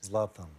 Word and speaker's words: Zlatan: You want to see Zlatan, and Zlatan is the correct pronunciation, yes? Zlatan.